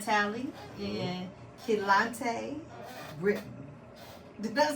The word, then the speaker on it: Kelontae Britten: I'm here with Keon, Talley, and Kelontae, Britten.